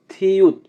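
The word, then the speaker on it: 티읕: থিউত, থিউতের উচ্চারণ হবে থ, ট এবং ত এর মতো, থিউত।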